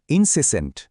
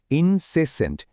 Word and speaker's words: incessant: এই শব্দটা হলো ইনসেসেন্ট। উচ্চারণটা খেয়াল করুন। ইনসেসেন্ট।